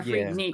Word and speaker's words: Freaknik: it's because the way a lot of people pronounce it is freak neck yeah freak Nick it's freak Nick that man I knew yeah